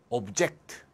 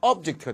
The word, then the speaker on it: object: 이 ject가 들어가는 단어가 명사나 형용사로 쓰이면 액센트가 앞에 있고요. 발음이 duct가 돼요. 예를 들면 subject, abject. 명사나 형용사이면 액센트가 앞에, 발음은 duct. 동사가 되면 말이죠. 액센트가 뒤가 되고 발음은 ject가 됩니다. 예를 들면 동사로 subject, 동사로 object. 그러니까 subject, object는 명사로 쓰면 subject, object가 되고 동사로 쓰면 subject, object가 되겠습니다.